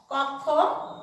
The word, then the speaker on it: কক্ষ: পক্ষ, এতে যদি ক্ষীয় থাকে কোনো শব্দে, ক্ষীয়র জন্য আমাদের উচ্চারণে আনতে হবে ক এবং খ, কক্ষ।